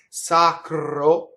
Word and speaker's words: sacro: next line, you have 2 R's that touch consonants, both in sacro and protɛgge. So both of those R's roll because they're touching a consonant. Okay, and it doesn't matter what side the consonant is on. So that's the rule. Surrounded by vowel, it's flipped. Glɔria. Hitting a consonant, it rolls. Sacro.